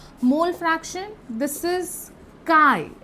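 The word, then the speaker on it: chi: m molarity capital m mole fraction this is काई ए को काई और जटा प्रोनाउंस करा है जिट और काई दैट्स नॉट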